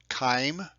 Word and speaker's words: chyme: liquid form is called chyme kind of pronounced the CH with a k' sound it's been totally broken